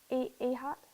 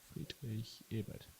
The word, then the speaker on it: Friedrich Ebert: Ehart? Ebert Australian or accent. Erhard? Friedrich Ebert.